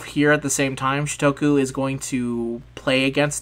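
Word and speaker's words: Shutoku: How do you pronounce his name? Shitoku.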